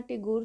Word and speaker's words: Tagore: उनको वहां के लोग ठाकुर बुलाया करते थे और इसी ठाकुर शब्द को ब्रिटिश लोग जो थे वह मिस प्रोनाउंस करते थे और यह धीरे-धीरे ठाकुर से टैगोर हो गया और जो रविंद्रनाथ टैगोर